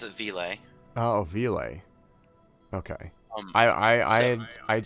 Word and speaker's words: Ville: So I pronounce it Ville.